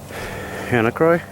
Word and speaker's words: Hannacroix: How do you pronounce the word? Hannacroix? That's what it is, Croy.